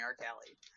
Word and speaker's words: Rcalielie: right cool so and what's your twitch it's pronounced just call me art Kelly nice thank you so much for joining me